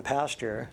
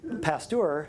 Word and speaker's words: Pasteur: cows were in the pasture. I know a lot of people have thought that. I know. I thought that. I probably thought that until I was a certain age, and then I realized, oh, it's spelled differently. And it's Pasteur, it's a French guy, who said, well, it's